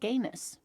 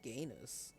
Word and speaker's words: genus: I have never heard anyone pronounce this word like gayness.